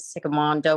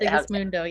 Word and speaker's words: Sigismundo: And I would say Ernesto's name, but I always like mispronounce it, Sigamondo or something. Sigismundo, yeah.